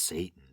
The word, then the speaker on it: Seitan: It's spelled Seitan. I think it's pronounced Satan.